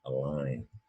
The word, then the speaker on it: align: And that G in align is silent. You don't hear it, align. And that's because it is also an old French word we have in English, or at least the origin is an old French, where the G is silent. Aligner, aligner means to set in a line, right?